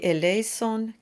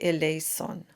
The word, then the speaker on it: eleison: The e i combination is pronounced as a single vowel with a diphthong.